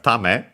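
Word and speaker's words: 為: Yeah, tame, by the way, on its own, technically accented on the last syllable.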